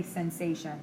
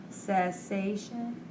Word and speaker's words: cessation: I always say sensation. It's not a sensation of smoking. Cessation.